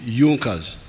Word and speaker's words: Junker: It is written Junkers, but they pronounce it Junkers, that saw the importance of a united German market.